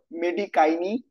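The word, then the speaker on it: Medicinae: Latin যে root সেটা হল উচ্চারণটা হল মেডিকাইনি বাকলরিয়াস বাকলরিয়াস কাইরুগে। ঠিক আছে? বাইরুগাই যাই বলে যেটা উচ্চারণ এরকম হবে।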